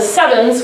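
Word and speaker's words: CEvNS: like to call the sevens where they he is a as a new and it's pronounced like seven so please spread this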